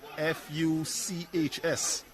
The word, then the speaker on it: Fuchs: I remember the first time I came across the name Fuchs, and I was waiting to hear the pronunciation of that one. I was like, yes, I'm waiting. And then I heard the instrument that we eat with.